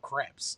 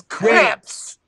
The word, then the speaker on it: crepe: It's creeps. Did you say creeps with the C? Yeah. Oh, okay. That was you could have just said crepe with a.